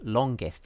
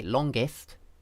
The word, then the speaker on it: longest: And she was asking, is the ist part, as in latest, pronounced with the vowel I, okay, or is it pronounced with a schwa, the sound or are they both correct? Well, the simple answer is that they are both correct.